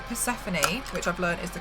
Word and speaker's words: Persephone: Even if it's things like Persephone, which I've learned is the correct way to pronounce that, thanks to Meg shouting at me.